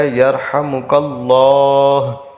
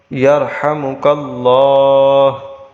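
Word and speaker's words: يرحمك الله: کہے گا یرحمک اللہ۔ یہ اس میں جلالت کی جو ہاء ہے یہ وقف کی وجہ سے ساکن ہو جائے گی، تو اس کو پڑھا جائے گا یرحمک اللہ، یرحمک اللہ، یرحمک اللہ۔ اب ہم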